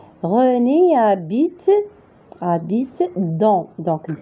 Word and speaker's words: habite: Habite. Donc, H, il ne se prononce pas. Donc, la lettre H, il est muette. Donc, on va prononcer seulement la voyelle A. René habite dans.